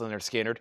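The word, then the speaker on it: Lynyrd Skynyrd: And we got Leonard Skinner, Pronounced Leonard Skinner.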